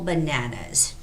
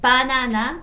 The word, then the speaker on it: banana: And banana in Korean would be banana. There's a second vowel syllable. Banana. The stress, banana.